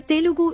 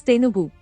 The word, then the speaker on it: Telugu: This interchange can be even seen in the word Telugu, where Telugu is also pronounced as Tenugu.